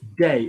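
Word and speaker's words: des: D-E-S is day. Now, the problem is in Spanish, D, which a lot of people have come across, like la casa de mi madre, the house of my mother, day is D-E.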